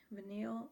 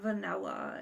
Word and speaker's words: Vanille: tom ford tobacco veneer vanille i don't it's not vanilla it's listen i'm not